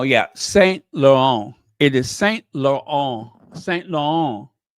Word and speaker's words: Saint Laurent: It's very French. Saint Laurent. Laurent. You got it? Because you aren't ever going to get me to say it like an American. I got to say it like a French.